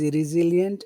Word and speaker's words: resilient: She is resilient and stayed in.